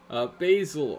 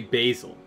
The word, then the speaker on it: Basil: I say Basil, but that could just be me being an American. I have heard in media it pronounces Basil before, but I say Basil.